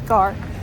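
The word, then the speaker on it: Gare: All right, that is Gord, which first of all, I have to correct myself. I said Garrett before. I always say it wrong cuz there's an E in the word, but it's not. It's Gar.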